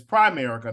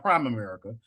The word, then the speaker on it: Primerica: in the background laughing it's Primerica not prime America you know and never